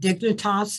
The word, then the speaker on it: Dignitas: You find this organization in Switzerland called Dignitas, is that the right pronunciation?